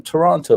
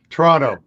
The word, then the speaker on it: Toronto: So the second T is silent, such like in the city that I live in, Atlanta. So yes. People think it's Atlanta. No, it's Atlanta. Double N. Atlanta. That's right.